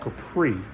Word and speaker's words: Kheprii: It's called Capri. It's spelled Kheprii.